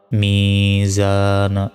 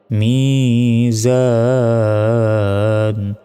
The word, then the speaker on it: ميزان: মিম ইয়াজের মি, জা আলিফ জবর জা, নুন জের নি, মিজানি। থামলে মিজান।